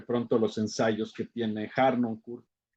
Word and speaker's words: Harnoncourt: del orden y si el apellido de hecho es afrancesado y si se pronunciará digamos m estilo francés sería una h un poquito más muda que la que se utiliza en alemania de löw que sería un poco la cuestión sin embargo pues bien la pronunciación usuales harnoncourt llamas este hermaniza da